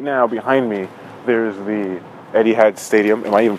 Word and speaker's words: Etihad: But as of right now, behind me, there's the Etihad Stadium. Am I even pronouncing that correctly?